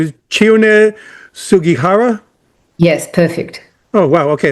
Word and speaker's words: Chiune Sugihara: Okay, so I want to make sure I'm pronouncing this right. So his name is Chiune Sugihara?